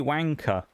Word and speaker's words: wanker: insults you a bloody wanker wanker does have an e on the end though but the way people pronounce it makes it sound